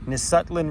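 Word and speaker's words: Nisutlin: teslin oh that bridge is awesome down there nutland river is how you pronounce it nutland River delta we definitely need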